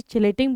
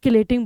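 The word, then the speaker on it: chelating: अब आपकी मर्जी, आप इसे चिलेटिंग बोलिए और आप किलेटिंग बोलिए, मेरे लिए तो दोनों ही सही है, कोई दिक्कत नहीं, मेरा आपको स्पेलिंग सही पता होनी चाहिए, ठीक है।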